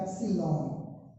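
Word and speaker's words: ε: इसको क्या प्रोनाउंस करेंगे हम? तो इसको हम बोलते हैं एप्सिलॉन।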